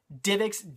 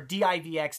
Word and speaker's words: DivX: And I say both because I've heard it pronounced both ways. I've seen like people do videos on these before, and some people say DivX, and some people say DivX. I prefer DivX.